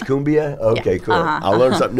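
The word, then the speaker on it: cumbia: And then I'm pretty sure the pronunciation for that is kumbia.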